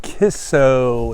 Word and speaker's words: Kicco: Hey, we have arrived at Kisso. It's spelled, like I think I said this already, it's spelled K-I-C-C-O.